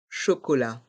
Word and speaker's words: chocolat: c'est h o C o l A T chocolat et à se rappeler et je suis sûr